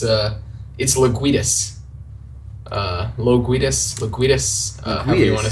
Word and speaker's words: LoGuidice: I've heard everything from like LoGuiduck, LoGducky, yeah, a lot of weird stuff. So what's the the national origin for that then? So it's an Italian name, but like the Italians pronounced it LoGuidice, and I guess at Ellis Island, the workers were like, "Oh no, you can't have like an I before a U. Here, we'll fix that for you."